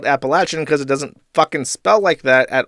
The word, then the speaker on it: Appalachian: gave me a curse also Appalachian should pronounce with a latch and not a as someone from there okay fine appalachin I will adjust my